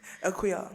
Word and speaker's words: Akua: No, let me say her name properly. Akua. Eden calls me. She has the RD at the end.